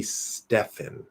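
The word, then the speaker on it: Stephen: a v and then the ph would be stefan with an f sound stefan now i've seen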